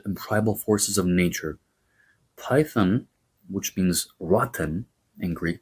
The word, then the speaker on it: Python: Python, as we say the word in Greek, was an underground creature of Gaia.